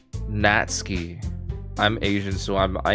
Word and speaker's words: Natsuki: pronounce natsuki correctly but in Japanese it's pronounced the way I typed it natski I'm Asian so I'm